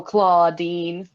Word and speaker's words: Claudine: Oh, Claudine. Like claw spelled like claw.